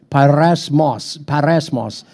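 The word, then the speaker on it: πειρασμός: It's actually, it's kind of pronounced like parasmos.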